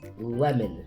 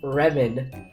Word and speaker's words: lemon: to say like like saying like lip or Lemon you don't say remon or rip I can say that